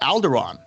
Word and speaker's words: Alderaan: to one one to one both men correct alderaan see i said it right and we got